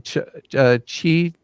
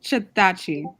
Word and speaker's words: Chitachi: It sounds like Sitachi, which is much easier to say.